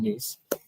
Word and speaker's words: Nhys: now we got it because it's like niece and nephew. She told me that. So, remember her name, niece.